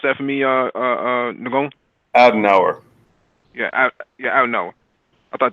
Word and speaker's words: Adenauer: The reparations program, which was created when Konrad Can you pronounce that for me, Nagon? Adenauer.